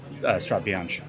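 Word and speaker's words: Strade Bianche: I'm gonna go get a coffee and learn how to pronounce Strada Bianca. No? Strada Bianca. Strada Bianca. Sorry, Tom. Sorry. Or it's actually Strada Bianca.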